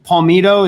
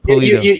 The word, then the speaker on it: Polito: lots And you had the Bryan Palmito, is that it? Is that how you say it? Polito. Yeah, Polito.